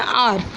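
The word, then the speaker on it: hour: इस वर्ड को है वह हौर यू वर्ड नहीं पड़ते हम इसको बढ़ते हैं और तो हमारा जो एक होता है वह साइलेंट होता है और होता है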